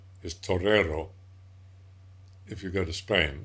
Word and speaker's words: torero: the song of the torador which actually is not the right word it never has been the right word for a bull fighter is Torero if you go to